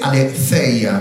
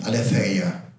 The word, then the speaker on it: aletheia: diapositiva, que se dice aletheia. Fíjense que el griego y el inglés pronuncia igual la TH, ¿no? Como una Z. ¿Sí? Aletheia.